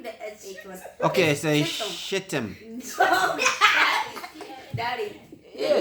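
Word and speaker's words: Chittim: Wait, chit. Chit him. Yes, that's how you Chitum. do it. Yeah. Chitum. Like how you say chicken.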